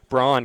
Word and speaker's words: Braun: Uh Mason Brown, I'm I'm calling it Brown because of Christian Brown, the basketball player from Kansas, who I've gotten used to mispronouncing, uh B A R U N, which is Braun, but uh getting used to change that over to Brown.